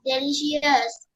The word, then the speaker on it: delicious: The food was delicious. Delicious. Delicious. The No, light. no, hold on. Delicious. No, and the ரெண்டாவது I, CI is pronounced as shus.